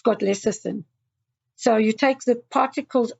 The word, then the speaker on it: lecithin: I used to call it lectin or something like that, I think. Oh, okay. Yeah, it's lecithin, yeah.